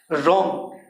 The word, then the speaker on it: wrong: रॉन्ग, WRONG, यहाँ पर W silent है।